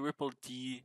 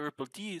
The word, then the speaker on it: rippled: something ends on the the d stands for daemon so it's the ripple daemon and right so that's